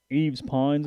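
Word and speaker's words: Yves Pons: team the tennessee player i can't remember eve's pines is how you pronounce it okay yeah he's a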